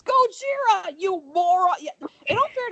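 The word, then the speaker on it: Gojira: is her reaction to him mispronouncing Godzilla go it's goira you Mor it all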